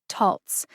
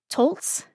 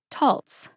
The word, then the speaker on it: Taltz: that it is pronounced taltz taltz like waltz but the various youtube videos that i watched used the following three pronunciations tolts the correct pronunciation again is taltz taltz like waltz if